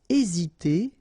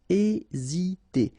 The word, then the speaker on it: hésiter: Aider à, hésiter à, remember H is not pronounced, so first letter here is A, hésiter.